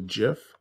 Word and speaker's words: gif: here where it says video to jiff or gif as people mispronunciate it all the time and i'm going to